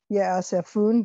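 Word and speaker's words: יאספון: Ye'asefun, that's another accent on the syllable.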